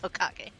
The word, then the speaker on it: Hokage: It's Hokage.